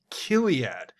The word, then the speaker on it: Chiliad: She's a British internet content pioneer and educator, according to Wikipedia, but also known for creating a company called Chiliad, or as they pronounce it, ominously enough, Kiliad.